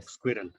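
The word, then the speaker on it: Sqrrl: story in the book it is called squirrel squirrel right yeah yeah squirrel but it is spelled s-q-r-r-l yes yes there is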